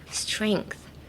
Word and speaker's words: strength: You could pronounce the G, but you could kind of make it silent. Strength. Strength. No, I feel like you should focus on the last th more than the start of the sentence. Like strength. The if you can get the th out, then we'll hear you.